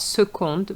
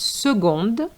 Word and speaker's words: seconde: is a woman seconde So the C has a different sound here not seconde but seconde ail for ga- for garlic